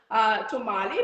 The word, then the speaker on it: tamale: It's called National Tamale Day, but pronounced as tamale, but spelled as T-A-M-A-L-E.